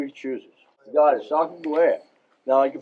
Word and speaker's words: Sacagawea: You got it, Sacagawea. Now, you can pronounce that numerous ways.